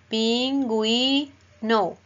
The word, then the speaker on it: pingüino: Pin, gui, pingüino. Pin, gu, y no. Es igual que los ejemplos anteriores. Queremos que suene la U por norma ortográfica. Entonces lleva los dos punticos de la diéresis.